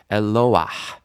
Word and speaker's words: Eloah: And so this is a situation where we want to hear the hey, Eloah.